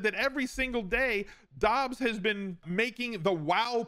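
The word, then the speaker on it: Doubs: romeo dobbs it's pronounced dobbs i hate it i lost so much joke equity with his name not being like dubs and being dobbs it is what it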